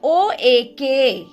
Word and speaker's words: oak: So now O-A-K. See now how do we pronounce? Oak. It gives us sound of long vowel O. Okay, and A is silent.